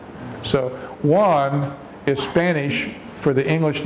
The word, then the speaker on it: Juan: in Spanish you that the J is silent you don't pronounce the J in English the J is pronounced so one is Spanish for the